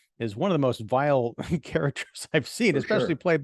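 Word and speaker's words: Weil: um uh Mr vile I like his Gustav vile it's if you look at it looks like while you know w-e-i-l but it's pronounced vile and I didn't know that when I was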